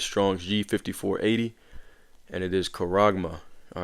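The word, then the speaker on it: χάραγμα: All right, going to the blue letter, and the word for that is Strong's G5480, and it is charagma. All right, that's the pronunciation of it.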